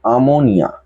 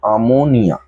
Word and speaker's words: আরমোনিয়া: উচ্চারণ যখন করব তখন কিন্তু আমোনিয়া। যখন উচ্চারণ করব তখন কিন্তু আমোনিয়া। অর্থাৎ আরটা উচ্চারণের সময় সাইলেন্স হয়ে যাবে, আর লিখবার সময় আরমোনিয়া, উচ্চারণের সময় আমোনিয়া।